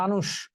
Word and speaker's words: মানুষ: এই যে দেখো পশু এইযে মানুষ মানুষ বানানে মূর্ধন্য স আছে কিন্তু উচ্চারণে সে তালব্য স হবে মানুষ তালব্য স এর